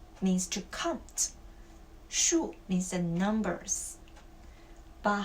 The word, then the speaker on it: 数: Okay, so this character, as a verb, it must be the 3rd tone. Okay, as a noun, is the 4th tone.